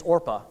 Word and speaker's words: Orpah: Oprah's real name is actually Orpah. The Oprah that we know, Oprah Winfrey, but people couldn't pronounce it, so she decided to go with Oprah, and that's that.